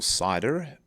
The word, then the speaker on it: CIDR: column is the cidr or cider as it's normally pronounced so what's it all